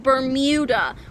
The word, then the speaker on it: Bermuda: in the Bermuda Triangle it's pronounced berm muda or discover the lost